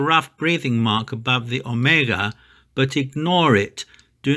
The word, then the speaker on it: omega: Omicron and omega are not pronounced like o, like the o in the word go, but they are pronounced o.